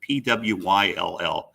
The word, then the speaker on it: Pwyll: Names come from all kinds of different cultures, and don't ask me to pronounce them accurately, but I think Pwill is the way they pronounce it. Pwyll, probably Welsh.